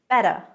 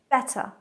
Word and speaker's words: better: Now the T in American English often becomes a softer T, more of a D sound really. So in American English, better, better, better. But British English, better, better, better.